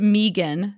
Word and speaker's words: Migun: It's pronounced Megan. Megan bed.